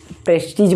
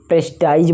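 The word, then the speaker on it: prestige: कभी कभी इसको हम प्रेस्टीज बोलते हैं, तो कोई आपका प्रेस्टाइज बोलता है, तो इससे मतलब नहीं है। आप जो भी पढ़ें थोड़ा उच्चारण को सही पढ़ें, तो ये प्रेस्टीज हम बोल सकते हैं।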